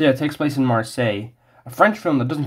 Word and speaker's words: Marseille: does it take place uh oh French pronunciation uh it takes place in mer yeah lash was a lot easier to pronounce than I thought so yeah it takes place in Marseilles a French film that